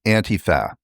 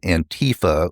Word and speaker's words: Antifa: In America, it's Antifa, or as some people pronounce it, Antifa, which is actually just a way of making it sound foreign and more threatening.